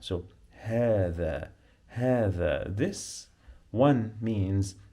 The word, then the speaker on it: هذا: You know the, like in English, when you say the, you pronounce the th. You must touch your tongue with your upper teeth to say the. But I'm gonna add here a. So هذا.